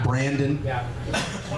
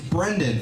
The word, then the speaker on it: Brendan: She always used to say, it's Brendan. It's spelled like Brenda with an N, which is a wrong thing to tell a bunch of 5th graders.